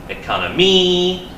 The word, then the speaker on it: economy: four syllables economy okay now where do we put the stress is it economy economy economy which one is it economy very good excellent high five high five okay economy second syllable and that works with